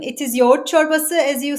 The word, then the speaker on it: Yoğurt çorbası: Like first the name it is y chbasa as you said uh that g is silent in Turkish so it is y and that y chbas is also named as yala chbas or dun chbas.